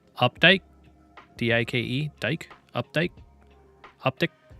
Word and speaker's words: Updike: Dike? Updike? Updike? It's like with a D, so it'd be Dike. Updike.